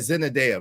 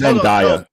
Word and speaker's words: Zendaya: The number thing is you said Zendaya, right? Zendaya is 27 years old. I hate to interrupt, but it's Zendaya.